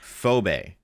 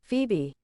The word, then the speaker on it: Phoebe: Uh, I'm going to get this name wrong. No, I'm not. No, I'm not. Phobe. Hold on. Let me just look up how to do it. Phoebe.